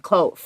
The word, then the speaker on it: cloth: 好，一开始当然先介绍一下，到底这个御守是个什么样的东西呢？他说，其实它是一种小小的用布做的，记得这个字念成 cloth，那个 th 的音几乎听不太见了哈。所以那个小小的一个 pouch，我们原本以前学 pouch 是那个 kangaroo 有没有？前面那个放小宝宝的地方。